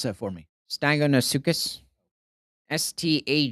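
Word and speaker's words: Stagonosuchus: Stagonosucus. So, S t a g. Whoa. Whoa. Repronounce that for me. Stagonosucus.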